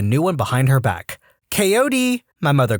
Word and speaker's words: Kod: one behind her back kod my mother called the dog's name was k o d though way pronounced every letter kote come here as expected